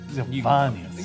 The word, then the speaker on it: Giovannius: You gotta hit the V. You- Giovannius.